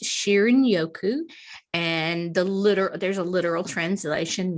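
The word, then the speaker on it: 森林浴: The Japanese term is pronounced Shinrin-yoku, and there's a literal translation meaning bathing in the healing atmosphere of the forest.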